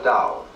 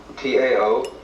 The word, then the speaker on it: Tao: So their principle of nature is called a Dao. T AO pronounced dao in the Mandarin dialect, Tao in the Shanghai dialect, toe in the Cantonese dialect.